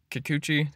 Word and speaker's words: Kikuchi: then the next guy like is gonna be Kikuchi that's how you say his name it's gonna